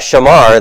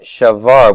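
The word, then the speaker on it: שָׁבַר: verb for breaking it's not Shamar that's keeping keeping the commandments breaking them similar it's shove our right shavar with a bathe okay so we know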